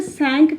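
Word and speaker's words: cinq: कुछ लोग इसे सैंक कहते हैं एंड कुछ लोग इसे सांक भी कहते हैं, ठीक है, दोनों ही सही है, कोई प्रॉब्लम नहीं है।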